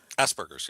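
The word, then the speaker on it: Asperger's: And that's probably I I find uh I'm sorry, how's it pronounced? As Ashberers. Asberers.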